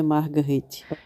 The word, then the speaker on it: Marguerite: né que era a Marguerite pronúncia em francês é margerite inclusive eu me lembro